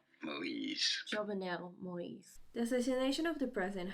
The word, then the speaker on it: Jovenel Moïse: Jovenel Moïse. Jovenel Moïse.